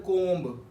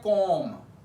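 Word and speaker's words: comb: किया जाता for example it's not called कोम इसे हम पढ़ते हैं कोम क्लाइम लिम लम बम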